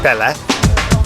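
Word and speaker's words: Palle: Yeah, Pelle. That's my name. Pelle? Yeah. How do you spell it?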